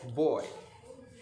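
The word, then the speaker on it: buoy: boy okay boy is spelled as b u o y but it is pronounced as boy okay so boy as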